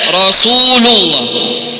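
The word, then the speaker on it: رسولُ الله: Harusnya dia membacanya dengan rafa. Asyhadu anna Muhammadan Rasulullah. Bukan dengan nasab. Banyak muadzin keliru.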